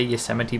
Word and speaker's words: Yosemite: you know and that is how you say yosemite by the way people still seem to not